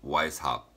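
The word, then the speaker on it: Weishaupt: first founded by joe johanna or Johan Adam Weiss hop why is how I don't know exactly how to pronounce it it's w e is H a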